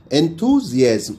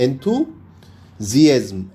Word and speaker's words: enthusiasm: एंथुजियाज्म।